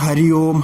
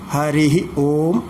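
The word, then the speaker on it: ഹരിഃ ഓം: അപ്പോൾ കേൾക്കുന്നത് സാധാരണ ഹരി ഓം ഹരി ഓം എന്നാണ്. വാസ്തവത്തിൽ അതിൻ്റെ ശരിയായ ഉച്ചാരണം ഹരിഹി ഓം എന്നാണ്. ഹരിഹി എന്നുള്ളതിന് വിസർഗം സഹിതം ഉച്ചരിക്കണമെന്നാണ്.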